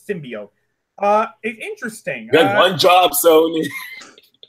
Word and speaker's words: symbiote: part you'll do fine the way the symbiote that is how it's pronounced by the way it's not stim by I don't know what